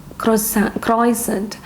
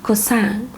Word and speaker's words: croissant: Usually people have it in the morning, and this is pronounced as croissant. Actually, it's wrong. It is croissant.